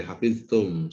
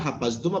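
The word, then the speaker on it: حفظتم: Oke, hafiztum. Sahih. Hafiztum wazannya apa? Wazannya fa'ala Ustaz. wazan. Tadi kamu bacanya hafaztum apa hafiztum? Hafiztum. Berarti wazannya apa? Faila. Fa'ila. Masa hafiztum jadi wazan fa'ala?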